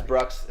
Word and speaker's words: Brux: Brew No, but X. this is Brux.